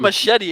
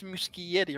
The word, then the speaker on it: Muschietti: It's not Machete. It's Muschietti, right?